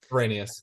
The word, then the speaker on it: Arrhenius: The Arrhenius, how do you pronounce Nick's last name? Arrhenius.